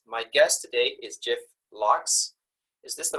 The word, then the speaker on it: Lo: sellers Factory podcast my guest today is Jeff Lo is this the right way to say Jeff